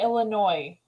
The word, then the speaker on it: Illinois: yeah I'm from freaking Illinois Illinois Illinois some say Illinois some say Illinois some say Illinois Illinois yeah no it's a silent s right yeah I've always